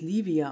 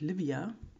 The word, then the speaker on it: Livia: Also bisher, erstens spricht man es Livia aus, bitte, und nicht Livia.